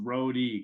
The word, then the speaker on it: Rhode: to find you as r h o d e pronounced road e correct yep r h